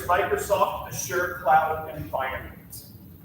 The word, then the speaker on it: Azure: DPR has agreed to host the enterprise system based on the Arches open source data management platform through its Microsoft Azure cloud environment.